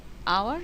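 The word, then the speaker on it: hour: যেমন আওয়ার শব্দটি কনসোনেন্ট দিয়ে শুরু হলেও উচ্চারণ হচ্ছে ভাওয়েলের মত।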